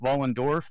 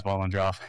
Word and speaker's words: Vollendorf: So Vollendorf, funny enough, is actually pronounced Vollendorf. The R and the O are flipped upon pronunciation, but everyone says Vollendorf.